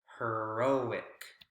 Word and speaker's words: heroic: correct ending suffix and the o sound o vowel sound is where the word stress is so we're going to circle the r o heroic heroic so you're seeing